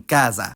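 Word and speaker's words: casa: least in Northern Italy s becomes Z when between vowels and not geminated like in Kaza compare this with Roso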